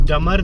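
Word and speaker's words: dumber: इज डंबर then Himanshu और जब हम इसे प्रोनाउंस करेंगे तो चितरंजन इज डमर देन हिमांशु ब को हम बहुत ज्यादा नहीं बोलेंगे वरना वो बोलने में दिक्कत होगी हमें डंबर Chitranjan is डंबर then Himanshu डमर बी यय पर साइलेंट हो जाएगा ठीक है चितरंजन इ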